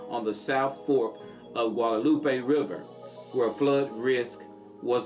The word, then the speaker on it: Guadalupe: How you pronounce it? Guadalupe.